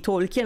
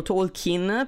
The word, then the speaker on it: Tolkien: è un grande classico parliamo di tolken o Talkin perché Ammetto che io l'ho sempre pronunciata all'italiana passatemi il termine so che qualcuno lo pronuncia tolken Quindi io lo dirò tolken mi dispiace perché sono abituata a dirlo così da 20 anni però so che c'è anche un'altra pronuncia quindi Abbiate pazienza dicevo da